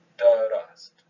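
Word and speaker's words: درست: There's an ah vowel in between the del and the ra, and then an ah vowel, a fatha between the ra and the sin. Right? And there's actually two syllables in there.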